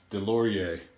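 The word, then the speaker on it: Deslauriers: pronouncing the name correctly i do know that certain depending where you're at you sometimes pronounce the s other times you don't but if when it comes to french i do believe it's silence so i think it's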